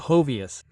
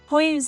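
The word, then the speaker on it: Hoyos: This one, according to Gideon, is called Hovius. Hoyus is not Hovius, he said, because that's how it's pronounced ho.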